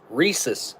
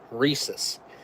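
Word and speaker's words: rhesus: escaped in South Carolina reesus monkeys yeah reesus that's how I've heard it pronounced like like a Reese's cup or but it's more reesus reesus maack so reesus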